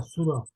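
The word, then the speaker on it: Thoreau: autor que se llama Henry suro tau con una H por eso se pronuncia suro este hijo de franceses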